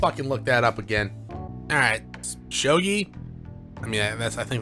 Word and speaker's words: shogi: letting me play here you see he's my Shoji friend okay one second I gotta look that up again alright shogi I mean IMS I think that's what I've